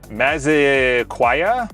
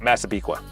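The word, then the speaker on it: Massapequa: It's funny when they go to people that are new to New York and they're like, "How do you say this?" And they're like, "Maziquaya." They're like, "Nope. Masabiqua."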